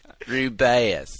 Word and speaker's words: Rubeus: aliens just like this the scholastic pronunciation guide also says ruby i know rubeus like ruby the woman is so